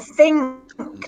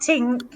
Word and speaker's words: think: And think, not tink. Think.